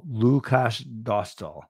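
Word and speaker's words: Lukáš Dostál: Oh, thank you, Jay, for the pronunciation. Lukasz Dostal. Lukasz Dostal.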